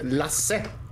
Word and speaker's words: Lasse: We Swedes say Lasse. Not sure if the way I said it is how you should... We say Lasse. how do you pronounce it again? Yeah, I just pronounced it as Lasse. So, like Lassie, but without the I.